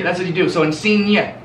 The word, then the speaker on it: Insigne: So if there's a G-N, so if there's a G-N in anything you hear, like Lorenzo Insigne. You don't say Lorenzo Insigne. You say Insigne.